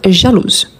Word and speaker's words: jalouse: Donc jalouse.